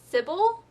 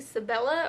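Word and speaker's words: Sybella: I was pronouncing it wrong because I kept pronouncing it Sybil and it's actually Sibella or at least that's how others have pronounced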